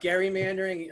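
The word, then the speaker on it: gerrymandering: you don't know about gary mandering um yes it's with a hard g we have it a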